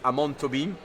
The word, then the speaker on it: Amon Tobin: For me, there is do you know Amon Tobin? I don't think so. Or actually the correct pronunciation is Amon Tobin, because he's Brazilian.